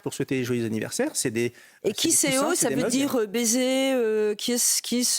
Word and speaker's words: Kisseo: Comme ça qu'on vous a lancé imprimez les Kiseo.